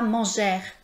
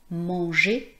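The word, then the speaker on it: manger: Les deux lettres e plus r c'est pas \nɛ.twa.jɛʁ\, c'est pas \ty.twa.jɛʁ\, c'est pas \mɑ̃.ʒɛʁ\ c'est \ne.twa.je\ \mɑ̃.ʒe\ \ty.twa.je\ Je vous invite à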